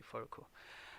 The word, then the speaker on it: Froko: call me or you can call me furuku i come from a polish region of ghana